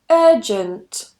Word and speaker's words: urgent: Another one, urgent, urgent. Again, no R. Urgent.